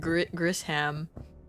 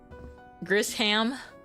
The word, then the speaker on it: Grizham: Yeah, I think I'm out auraing Grizham. That's how I pronounce their name, right? Grizham, with emphasis on the ham part.